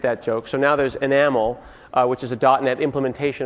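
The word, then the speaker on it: NHaml: It's not enhamel, it's pronounced enamel, because you have to be really hip and cool when you come up with names like this.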